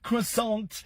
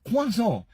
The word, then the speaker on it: croissant: And I know a lot of people will always say, do you know, no, you don't say croissant. You say quazo.